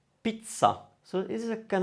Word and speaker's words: pizza: i double z a so that double z would cause you to pronounce a double sound let's have a look